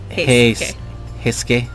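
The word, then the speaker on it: Heisuke: Pretend that the U isn't there. Hisuke?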